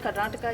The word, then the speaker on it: Karnataka: like to say that it is Karnataka, not Karnatak. That is something which I've been hearing for a very long time, so I wanted everybody to understand that the pronunciation of our Nadu is Karnataka.